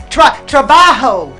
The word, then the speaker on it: trabajo: Trabajo. Trabajo. Okay. Yeah, so you I gotta roll your R a little bit.